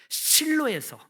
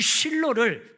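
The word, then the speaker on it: שילה: 이 실로라는 것은요, 히브리어로 슐로인데요, 이 실로를 그냥 한글 그 발음으로 기록한 것이 실로입니다. 이 실로가 살롬의 근원이 됩니다.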